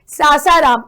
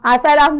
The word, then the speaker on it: सासाराम: ठीक है, तो यहाँ मेरे प्रोनाउंसिएशन को लेकर मत चलना भाई, सासाराम, आसाराम नहीं बोल रही हूँ, क्योंकि काफी स्टूडेंट ऐसे